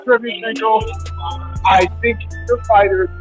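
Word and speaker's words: Derevyanchenko: I'm going to call him Derevyenchenko. I like Derevyenchenko.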